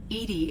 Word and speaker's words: EDI: are you named edie edie is the phonetic pronunciation of edi that is an acronym for enhanced defense intelligence ah okay where are